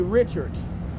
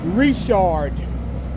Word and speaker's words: Richard: yeah I want more n n n Louisiana pronunciation lesson this does not say Richard if you think that this says Richard you're not from Louisiana this is pronounced reard if you're from Louisiana then you know that